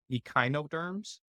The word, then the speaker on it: echinoderms: So, um, one one thing that I was curious about the I I guess I was pronouncing it wrong. It's echinoderms.